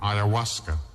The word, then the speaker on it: ayahuasca: people that they try the amazonian sacred brew ayahuasca which is spelled a y a h u a s